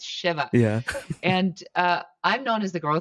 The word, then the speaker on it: Shiva: Shiva. See, I have to do the same thing. It's not Yeah, Shiva, it's Shiva.